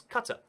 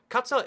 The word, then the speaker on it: Qatar: to just briefly mention I've said Qatar the whole video, and you might be like, no, so I can't. It's Qatar. So Qatar is how they say it in the local Qatari language. However, it's Qatar in every international sense. Like, when you're speaking English, it's Qatar.